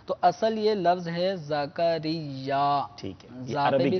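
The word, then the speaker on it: زکریا: شعیب بھائی زکریہ ہے یا ذکریہ ہے؟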